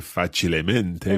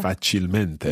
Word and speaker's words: facilmente: Okay, so we wouldn't say facilemente, we would say Esatto. facilmente.